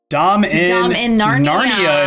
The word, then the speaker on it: Dominaria: So Truffle Guy says Dominaria. Is that what I'm getting here? Dominaria. Okay. Dom in Narnia is what Chief Jiraiya says.